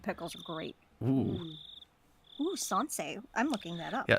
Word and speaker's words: sansai: I made sansei pickles this time. Before Did I say it right? yeah. Yay. Before I had moved here to Hinamizawa, I scoffed at the mountain vegetables called sansai.